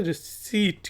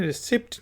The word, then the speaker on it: receipt: तो इसे रिसीट कहते हैं, रिसिप्ट नहीं कहते, रिसीट।